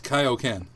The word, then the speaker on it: Kaioken: It looks like the Kaioken technique. Not quite. Wait, but wasn't similar. Isn't it Kaioken? Not Kaioken? It's Kaioken.